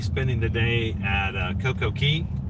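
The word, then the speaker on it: CocoCay: right it should be CoCo Key um c-a-y but um it doesn't rhyme if you say perfect day at CoCo Key so that's true that's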